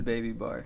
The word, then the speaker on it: bbybar: pronunciation of your name is it baby bar is it yeah this is baby bar okay how you doing